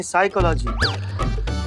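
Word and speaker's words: psychology: तो साइकोलॉजी नहीं, साइकोलॉजी। P silent होता है।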